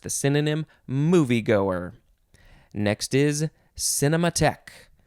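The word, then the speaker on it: cinémathèque: synonym moviegoer next is cinema tech cinema tech but the end of the word is spelled t-h-e-q-u-e cinema tech noun from 1966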